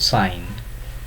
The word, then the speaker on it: sign: Take for an example, in the word sign, the G is not pronounced, but in the word signature, the G makes a sound.